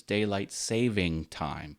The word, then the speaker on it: daylight saving time: And it is saving. It's not plural. The correct pronunciation is daylight saving time.